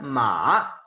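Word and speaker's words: 马: Se pronuncia ma, ¿sí? Es esta sílaba, ma, esa es la representación de este carácter en el sistema pinyin, así se pronuncia, ma.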